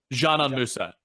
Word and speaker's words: Džanan Musa: It's spelled Dzanan. Is it Džanan Musa? Is that how I say it? Džanan Musa.